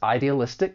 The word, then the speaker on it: idealistic: For pronunciation, there are five syllables. The stress is on the second to last syllable.